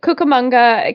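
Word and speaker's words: Cucamonga: thing yeah yeah um Rachel's Hometown is in kukamonga California didn't spell it right but I definitely send it said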